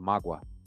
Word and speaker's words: Magua: these kingdoms was called Magua, with the stress on the last syllable, which means kingdom of the plain.